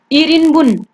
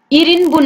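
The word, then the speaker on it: 일인분: अनि हेर्नुहोस् फुलखोकी गोरुको मासुको आइटममा चाहिँ हेर्नुहोस् त इरिनबुन, इरिनबुन है, यो चाहिँ इरिनबुन भनेर उच्चारण गर्नुपर्ने हुन्छ है, किनकि इल भनेको यो तलबाट ल छ नि, किनकि यो सिनो कोरियनमा उच्चारण गरिन्छ, यो चाहिँ सिनो कोरियनमा काउन्ट गरिन्छ है।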